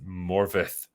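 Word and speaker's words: Morfydd: to support my welsh-speaking sister morford uh fyi pronounced morvith oh there we go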